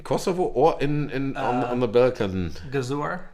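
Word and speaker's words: Gëzuar: Gazor in Albanian. Gazor? Gazor.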